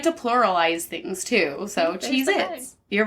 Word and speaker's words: Cheez-It: Alright, is it Cheez-Its or Cheez-It? It's. No. No? It's Cheez-It.